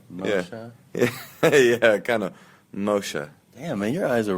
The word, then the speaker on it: Moshe: i say a real person would say like moshe do you hear the subtlety of that yeah yeah it's at the end yeah yeah yeah kind of moshe damn man your eyes are really nice i've